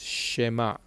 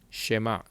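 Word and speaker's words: שְׁמַע: The answer is it has an e sound, a short e sound. This over here is a shin, this is a mem, and this is an ayin. This is shema, shema, shema.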